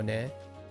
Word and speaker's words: ね: And then net, isn't it? Right. Yeah, okay. Sentence ending. Net is classified as a sentence ending particle in Japanese. It may also be pronounced as ne as an extended.